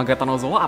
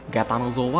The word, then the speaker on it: Gatanozoa: Bang bedanya gatanotor sama Gatanozoa apaan kok namanya beda banget jadi buat yang gak tahu itu cuma beda di tulisan sama cara baca doang Ya kalau bahasa Inggrisnya gatanotor bahasa Jepangnya Gatanozoa Jadi tergantung lupa dia